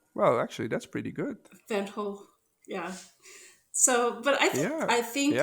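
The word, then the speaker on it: Van Gogh: the you know the textural paint application that van go did or how do you all say van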